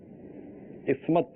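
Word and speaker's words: اثمد: لفظ کا تلفظ بتائیں. اسمت. اسمت ہے. سا یا اسمت جی میم کے کسرہ کے ساتھ.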